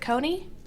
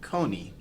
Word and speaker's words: Kony: hands of a man named Joseph, is it Kony? It is not Kony.